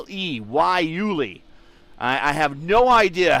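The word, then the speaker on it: guayule: That means they are on the softer of the two tires, the Yuli tires. And then the Yuli, spell it with a G, G-U-A-Y-U-L-E, Yuli.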